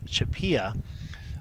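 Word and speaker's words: CHAPEA: way not only can you go to nasa.gov chupia and that's spelled you could see here c-h-a-p-e-a if you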